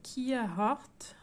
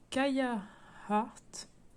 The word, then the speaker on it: Kia Heart: Donc il y a 2 semaines j'avais fait Kia Heart, ou d'ailleurs je crois que ça se prononce Kaya Heart.